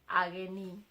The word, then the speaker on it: ageni: Guests are called ageni. That is the plural form of guests. Now, let's say for example, if you want to mean one person, one guest, this is how you say it. Mogeni. Mogeni. Mogeni. Mogeni, one guest. Ageni, many guests. Mogeni, ageni. Mogeni, ageni.